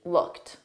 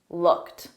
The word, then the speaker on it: looked: practice combining these together the e d on looked is pronounced as a soft T repeat looked looked excellent looked into looked